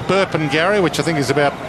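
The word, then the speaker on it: Burpengary: Brisbane Lions Saturday week at uh place called burping gar which I think is about what halfway between Brisbane and the Sunshine Coast y that's right good work I pronounced it correctly burp Gary you've done very well and um Sam Reed's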